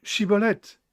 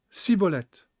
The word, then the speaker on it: shibboleth: it il répondait non il lui disait alors est bien dit shibboleth et il disait ciboulette car il ne pouvait pas bien prononcé pour une raison donnée